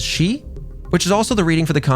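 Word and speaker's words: 四: other countries but because when you read read the word for in kanji it is pronounced as she which is also the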